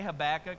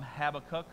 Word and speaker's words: Habakkuk: I say Habakkuk because that's the first way that I learned it. Some people call him Habakkuk, right? Or if you want to get super Hebrew and impress your friends, it's Habakkuk. That's how you say it, okay?